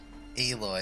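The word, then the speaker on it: Aloy: her name is spelled eloy it's like alloy but with just one l don't worry it's uh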